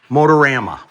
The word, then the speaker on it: Motorama: That's the correct pronunciation. Motorama.